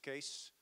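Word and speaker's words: Kees: I'll briefly introduce myself my name is case spelled ke yes you can pronounce it as CAS II the English word case worst case flight case etc you know the jokes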